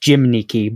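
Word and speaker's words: gymnici: So, yeah, it's it's that sound that's like you make your mouth in the shape of a U, but you say an E behind it.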